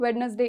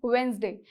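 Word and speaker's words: Wednesday: Photography, it वॉज वेडनेसडे, एंड इट इज़ नॉट वेडनेसडे, इट इज़ वेंसडे, इट इज़ not photography but इट is photography.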